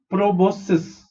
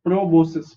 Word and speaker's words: proboscis: and hemi called data is very easy to pronounce okay so body of these animals is divided into three parts considering parts of proboscis okay squeeze the transparent pro pro vos is both and cis is proboscis proboscis so they are divided into three parts